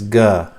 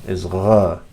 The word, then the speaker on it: qaf: They say qaf as ga, but that's a dialect, and you don't need to fall for the dialect. The actual pronunciation is gha.